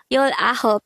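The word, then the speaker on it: 열아홉: i hope is nine ten plus nine is nineteen that is why yo ahup is the native korean pronunciation of 19.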